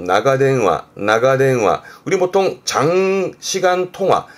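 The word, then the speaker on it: 長電話: 발음은 나가대응화, 나가대응화.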